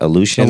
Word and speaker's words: Aleutian: Aleutian Islands. Yeah, Aleutian Islands.